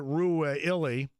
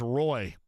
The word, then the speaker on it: Roy: Wes, and I pronounced it Ruili, which is incredibly wrong. What'd you say? Oh, I'd have to pull. Don't worry about it. It's actually pronounced Roy.